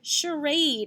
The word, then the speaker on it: charade: and fancy dresses so in these words what is this represented with a ch again a ch again that's